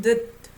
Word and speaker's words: 듯: You know, S underneath sounds like D, right? 손짓, 실루엣, 몸짓, right? 수줍은 듯 D, 거친 날.